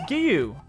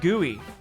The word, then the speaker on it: Giyu: Oh, it's Giyu. So it's Giyu instead of Gooey. It's Giyu. Giyu.